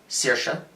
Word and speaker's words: Saoirse: to a sister sir saoirse which by the way thank you movie for teaching me how to pronounce that name which I've only ever seen written down it's Saoirse saoirse um they get I you